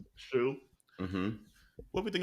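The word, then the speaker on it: Hsu: How do you say her last name? Stephanie Shu. Shu.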